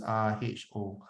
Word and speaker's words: rho: Rho is RHO. Okay, this symbol is called rho, pronounced as rho.